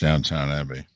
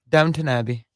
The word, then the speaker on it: Downton Abbey: i have never watched downtown abbey it's good it's pronounced downton downton abbey he says he's getting better